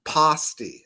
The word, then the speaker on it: pasty: the audience tonight because somebody told me I pronounced this wrong. It was like a little English type corner place called the Cornish, and I was told pasty is what it was pronounced.